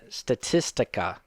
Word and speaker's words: Statista: So I have a top 10 list from Statistica. I think is how you say it. Statista? Statista? I'm pretty sure Statista.